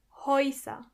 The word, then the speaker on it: Häuser: Häuser means houses. As you can hear, when the letter A umlaut comes before the letter U, together they are pronounced Oi. Häuser.